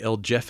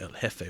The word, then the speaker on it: El Jefe: Cuba El he or the L Jeff as I I like to mispronounce it why' you got to do that that's such a me thing to do like I was so bad with uh pronunciations at certain points in Spanish the J is an H it's the L he which translates to like